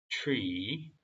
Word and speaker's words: tree: What if they reach out, take fruit from the tree? to가 절대 아닙니다. tree, 추 발음, tree of life, and eat it.